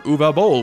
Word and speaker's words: Uwe Boll: My name is UweBoll, and you pronounce it Uwe Boll, and not Uwe or Evie.